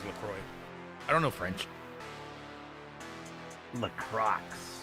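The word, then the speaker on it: LaCroix: Lacrosse. Lacro. I could never pronounce it as a kid. I didn't know it was Lacroy.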